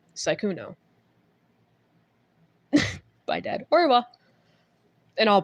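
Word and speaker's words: Sykuno: Um, you can call me Syuno, which is S Y K U N O, which is how you spell it. Or you can just address me by. You know, like the thing that's in the air that you look up at 24/7. Please don't add an E at the end of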